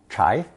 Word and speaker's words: 柴: Pronounced second tone, 柴.